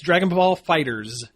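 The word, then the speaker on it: Dragon Ball FighterZ: I say that because there's a big Z at the end which no one could still tell how you're supposed to pronounce the title of this game it's Dragon Ball Fighters okay yeah that's how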